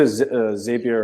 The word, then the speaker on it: Zapier: Our sales engineer says it is Zapier, so I'm gonna stick with him because it rhymes with happier.